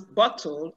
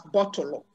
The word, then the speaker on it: bottle: end of english words the igbo speaker is likely to introduce a vowel there that is why you hear them pronounce bottle as bottle bomb as bombo thighs